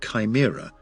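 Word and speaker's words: CHIMRA: acronyms Chi M pronounced Chimera after the multi-headed creature of Greek mythology which stands for the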